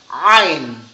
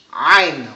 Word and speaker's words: Ain: Ito naman, nasa lalamunan siya. Nasa lalamunan ito. Katulad ng ha, yung malambot na ha. Ito rin ay nasa lalamunan. Ain. Ain.